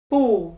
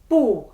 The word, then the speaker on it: 不: Yes, they should all be pronounced with the fourth tone as each of them is followed by the first, second, and third tones.